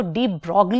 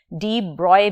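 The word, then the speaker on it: de Broglie: किया डी ब्रॉय ने इसको डी ब्रॉग भी कुछ लोग प्रोनाउंस करते हैं और आप इसे डी ब्रॉय भी प्रोनाउंस कर सकते हैं सो डी ब्रॉय हाइपोथेसिस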